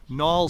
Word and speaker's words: Knaul: home today at 305 Nall Street that's spelled k-n-a-u-l Street in uh the